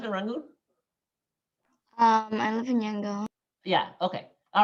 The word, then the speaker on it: Yangon: So number one, the word Yangon, okay, is a real Burmese pronunciation.